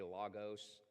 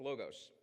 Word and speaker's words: logos: guys heard this word before you might say Lagos logos I've Heard lots of people pronounce it let's go with logos now John is a Jew but he is